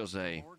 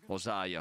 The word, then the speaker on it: Hosea: Lenny e Hosea sono scomparsi, non si pronuncia "Osei". "Hosea.